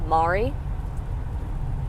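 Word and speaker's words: Maarie: their names are um Mari like um like Mary but like Mari I don't know it was it's spelled weird too it's spelled m-a-a-r-i-e um Mari then there's um Renny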